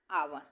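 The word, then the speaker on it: hour: क्योंकि यहां H silent है। ए की ध्वनि आ रही है।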